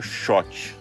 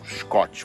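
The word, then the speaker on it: Schott: muito shot com Scott esse short é com CH e ele é austríaco em e o nome dele com sch se pronuncia shot e não Scott como seria em inglês o short vou falar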